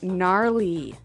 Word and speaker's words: gnarly: We heard the ski instructor say gnarly. Gnarly run. Yeah, gnarly. So an interesting word, it's spelled Gnarley. Okay, so, but you don't say gnarly. No. You say gnarly.